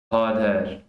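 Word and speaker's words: father: इसमें भी फाद है, फादर, ठीक है। ब्रदर में आप इसको देखें, फादर, फादर, फादर। सिस्टर में सिस्टर, सिस्टर। मदर में मदर, मदर। आर की आवाज जो है वो स्किप हो जाएगी।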